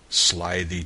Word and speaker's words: slithy: me: how to pronounce slithy toves. The I in slithy is long, as in writhe, and toves is pronounced so as to rhyme with groves.